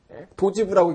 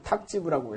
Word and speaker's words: 탁지부: 그 탁지부라 그럴 때 탁자를 요걸 쓰거든요. 도지부라고 읽지 않고 탁지부라고 읽어요.